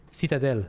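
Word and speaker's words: citadelle: We don't say citadel or citadel. We say citadel. The same thing. The same flat tone.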